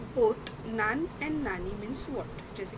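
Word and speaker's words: なに: जैसे जब हम किसी से पूछते हैं तो वहाँ पे हम नानी वर्ड का यूज़ करते हैं, मतलब यहाँ पे प्रोनाउंसिएशन आपका हो जाएगा नानी।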